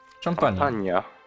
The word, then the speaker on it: Champagne: Tą Champagne, czy jak to się wymawia? Champagne.